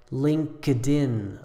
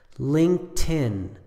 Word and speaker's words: LinkedIn: incorrect pronunciation sounds like LinkedIn LinkedIn actually it's just two syllables and you can leave out the K and put the T right on the next word so it sounds like this Linkin Linkin Skype is only